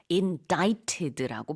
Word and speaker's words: indicted: 자, 근데 이 스펠링이 독특하죠. indicted인데 indicted가 아니고요. indicted라고 발음을 합니다. C가 묵음이에요. 가운데 I를 또 길게 발음을 하시면 되겠습니다.